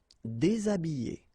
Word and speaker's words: déshabiller: Habiller, habiller, déshabiller, déshabiller. Okay, so you can see that here, this H here, this letter is not pronounced.